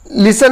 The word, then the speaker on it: listen: लिसन यानी होता है सुनना, यहाँ पर लिसन में जो है टी साइलेंट है, लिसन में टी नहीं पढ़ते हैं, LISTENING है, लेकिन यहाँ पर टी को नहीं पढ़ रहे हैं, लिसन पढ़ेंगे दोस्तों।